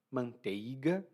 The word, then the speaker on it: manteiga: E a manteiga, e aqui eu estou forçando a pronúncia, manteiga, porque normalmente nós pronunciamos manteiga.